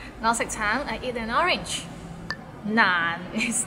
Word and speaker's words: 難: So it starts with n and ends with another n. Nan, and it's in a low tone, so nan.